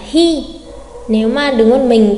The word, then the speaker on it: 日: Ngày thì chúng ta sẽ đọc là hi.